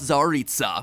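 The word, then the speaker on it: Tsaritsa: the ongoing plot of the game the mysterious zaritsa cryo archon of snijnaya the fact that i was able to pronounce that correctly should show that we not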